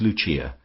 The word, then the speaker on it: Lucia: of her subjects as Lucia, pronounced, of course, in the Italian mode La Lucia, the wife of Lucas.